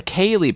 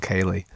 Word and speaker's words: ceilidh: It's like, you know, Irish names are like all the consonants that you don't pronounce and stuff.